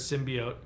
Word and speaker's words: symbiote: She's the only one that says symbiote. So I'm hoping that everybody else says symbiote. Because it's pretty much canon. The pronunciation is, at this point, canon. Symbiote. It's ridiculous. It's a dumb way to say that word.